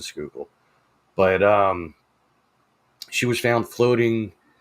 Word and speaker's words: Schuylkill: the Schuylkill River, and a lot of people mispronounce that when they read it, that aren't from the area. I mean, those of us from the area, we know it as the Schuylkill, but she was found